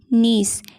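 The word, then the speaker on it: gneiss: Right answer होगा आपका option number D, नीस। नीस दोस्तों इंग्लिश में जो स्पेलिंग है उसको याद रखिए, उसमें जी जो है वो साइलेंट है।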